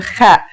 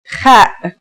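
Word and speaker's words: خ: Kha is a sound some people make when they laugh. It's also similar to the sound people make when they snore.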